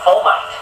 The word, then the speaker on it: fomite: that because it's an F rhymes with termite okay so a fomite okay and so it's